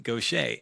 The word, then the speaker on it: Gauthier: Hey Alphas, today we are joined by the amazing folk singer songwriter Mary Gocha. And we're going to spell that out for you in case you want